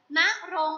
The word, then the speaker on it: ณรงค์: คะ คำ ว่า ณรงค์ ณรงค์ อ่าน ว่า นัก ลง ค่ะ นั่ง ลง ประกอบ ไป